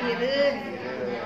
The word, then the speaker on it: biurun: Kalau di Aceh namanya biurun, dan bacanya birun.